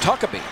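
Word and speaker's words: Huckeba: H-U-C-K-E-B-A, but it's pronounced Huckabee.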